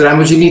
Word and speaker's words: Ramognee: uh about the organization we pronounce itself as ramojini technologies and uh we were